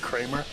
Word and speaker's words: Creamer: So just to clarify, I think it's pronounced Kramer. That's Kramer. Yeah, it's Kramer. Mark Kramer. Oh, I've been calling him Creamer.